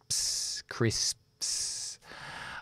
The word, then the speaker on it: crisps: luego vale Cris Cris Es difícil porque son tres consonantes sordas sin voz si dejamos la voz aquí y ya todo demás es solamente sin cuerdas vocales Cris crisps Okay Ah perdón las